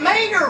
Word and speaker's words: Mater: not only that but mater rhymes with tater too come on let's